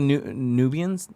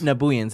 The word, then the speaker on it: Nabooians: Real quick, Tyler Newgroove in the chat says when they fought the Nubians, is that the right way to say The it? Nabooians? Nabooians, there you go.